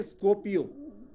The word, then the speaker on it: Skopje: फिर बेटा एम से आया बेटा मासेडोनिया, मासेडोनिया की कैपिटल बेटा, इसमें भी देखो जी आया हुआ है, SKOPJE, स्कोपियो, SKOPJE बोलते हैं स्कोपियो।